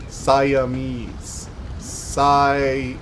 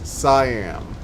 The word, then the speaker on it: Siam: wrong sa yam saam siames saam s CM yam pronounced like ham hence Siam Siam oh [ __